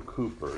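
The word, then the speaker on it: Cowper: A mysterious Way by William Cooper it's spelled c WP R I'd encourage you to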